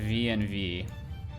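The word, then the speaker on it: venv: does is it creates a vnv a virtual env v-e-n-v if you will not virtual env which is a different thing altogether very confusing um but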